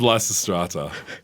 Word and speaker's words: Lysistrata: about the pronunciation, because there actually are about 4 or 5 apparently correct ways to say that. So that's probably a good thing for me. No, well, we went with Lysistrata.